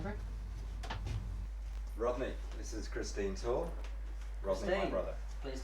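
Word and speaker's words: Taal: Is that tall or tall? T-double-A-L, but it's pronounced tall.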